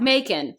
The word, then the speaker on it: Macon: We have Macon, rhymes with bacon.